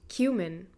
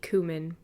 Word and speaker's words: cumin: It is pronounced cumin. Yes. Or maybe cumin. Yeah, no. But probably cumin.